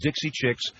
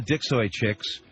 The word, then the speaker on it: Dixie Chicks: And by the way, their name is Dixie Chicks, not the Dixoy Chicks.